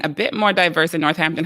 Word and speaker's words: Northampton: You moved then to Northampton. Is that how it's pronounced?